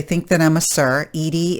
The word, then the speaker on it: Edie: Edie is a female name. It's not Eddie, even though it's spelled E-D-I-E.